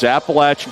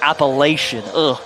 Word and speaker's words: Appalachian: It is Appalachin State and East Carolina.